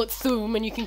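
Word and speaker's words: Thu'um: I've heard people pronounce it thum. It's THU apostrophe UM. Yeah, and I've heard people pronounce it thum.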